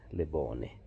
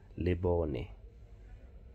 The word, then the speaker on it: Lebone: And that word spelled that way typically is pronounced as Lebone, which is a light. But that is not how we pronounce his name. His name is Lebone.